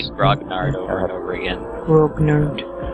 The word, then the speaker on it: grognard: trying to sell to grognards, Yeah. That's because it's grog nerds making the game, and they have these weird, bizarre ideas about how product pricing should work. Arthur, it's pronounced grognard.